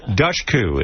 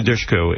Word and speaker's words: Dushku: We're here with Eliza Dushku in Dollhouse, premiering tomorrow night. How do you pronounce P-U-S-H? Push. Okay, so add a D and then put a coup in Eliza Dushku in Dollhouse, premiering tomorrow night at 9 o'clock on Fox.